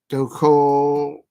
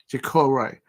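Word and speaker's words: Doucouré: Doucoure. It's a French word. It's a French pronunciation. Doucoure.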